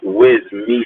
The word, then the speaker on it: Wyssmy: My real name is pronounced Wyssmy.